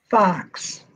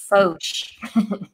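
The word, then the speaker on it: Foch: Fox. So this one's another French varietal. So the French way to pronounce that is Fauche. Oh, I'm sorry. Fauche? Fauche. Like an Fauche. SH kind of sound.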